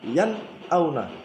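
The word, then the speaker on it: يَنْأَوْنَ: Cara bacanya juga harus jelas ya, terang dan nyata. Yan auna dibaca yan auna, yan auna. Nun sukun dan hamzahnya terputus, jelas maksudnya. Yan auna. Tidak boleh dibaca dengung.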